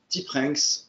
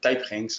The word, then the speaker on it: TipRanks: actions américaines aidées par le site Tipranks, ou Typranks, on peut le prononcer comme on veut.